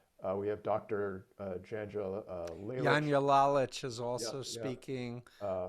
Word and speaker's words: Janja: hear from you uh we have dr uh janja daniellalich is also speaking uh which is pronounced her name it's okay she deals with it all the time people mispronounce my name all the time too yanya is a retired uh a professor of sociologist